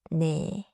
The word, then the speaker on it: 네: is not English name. Keep it short and light. 네.